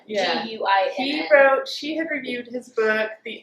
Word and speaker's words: Guinn: I would pronounce it Gwynne. Yeah. Guinn.